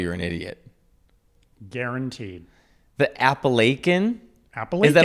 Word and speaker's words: Appalachian: The Appalachian Mountains. Where are they? First of all, where I come from, we pronounce it Appalachian.